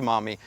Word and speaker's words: Maumee: with it yeah so the name mommy came from the Miami Tribe actually first but the French couldn't pronounce Miami so it ended up becoming Maumee right so let's unpack this